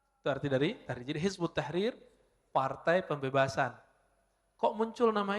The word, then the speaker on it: Hizbut Tahrir: Dalam bahasa Arab kalau ditulis versi ee transasinya Hizb At-Tahrir ya. Tapi kalau dibaca Hizbut Tahrir cara bacanya begitu nulisnya kalau didesis disertasi begini. Hizb Attahrir.